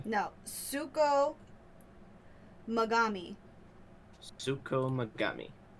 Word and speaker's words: Tsukumogami: Okay, so let me try to pronounce this as well as I can. Suko origami, did you say? No, Suko Magami.